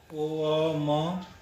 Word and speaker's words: ओम: ओम को 3 भागों में बांट देते हैं। ओ अ म, तीनों का बराबर जो है उच्चारण होना चाहिए तो ज़्यादा अच्छा रहता है।